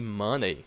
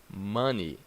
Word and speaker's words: money: chimney or for example don't say money it's money money I don't have a